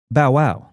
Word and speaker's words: Bow Wow: Drift well you've got bowwow well you got say it like you gotta say it like Snoop Dog Bow Wow B wow is bow B wow the inflection goes up on the Wow Bow Wow Bow Wow